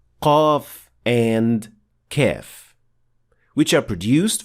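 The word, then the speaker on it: قاف: correct movement and pronounce qaf correctly. So, to produce qaf, the back of the tongue should be raised to make contact with the soft palate, and the sound will be produced.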